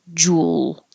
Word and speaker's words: jewel: you remember that and you can think of it as one syllable Jewel or you do have to actually move your lips from being more rounded for the U to being less rounded for the L so a tiny W does happen but I don't